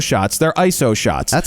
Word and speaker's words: ISO: baseball cards meaning baseball cards are tight they're ISO shots not ISO shots they're ISO shots that's how you pronounce ISO yeah so remember you're not shooting